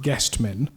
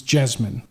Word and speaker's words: Jasmine: of Jasmine that's because in the anglophone world everyone calls it guest men but I'm reliably informed by one of the solicitors who represented the successful party that the correct Portuguese pronunciation is Jasmine now so I'll call